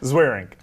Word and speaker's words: Zweerink: last name I would never be able to pronounce it Dr what's your last name zaring zaring they are you Jewish no how you